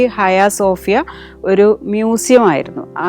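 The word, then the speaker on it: Ayasofya: ഈ ഹയാസോഫിയ എന്ന് പറഞ്ഞാൽ ഹാഗിയ സോഫിയ എന്നാണ് നമ്മൾ പുറത്തൊക്കെ പറയുന്നത് പക്ഷേ അതിൻറെ ടർക്കിഷ് ഉച്ചാരണം ഹയാസോഫിയ ആണ് അപ്പൊ ഹയാസോഫിയയും ബ്ലൂ മോസ്കും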